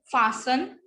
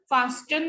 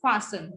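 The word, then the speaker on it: fasten: फासन, फास्टन नहीं होता, इट इज फासन.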